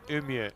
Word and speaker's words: Umeå: Well, if they're very north of Sweden, there's a place called Umeå. And it spelled like U-M-E-A. No, We'd you're say making like that up. Umeå, but it's Umeå.